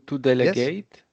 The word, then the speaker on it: delegate: It's pronounced ate, like the verb, the past participle of the verb to eat.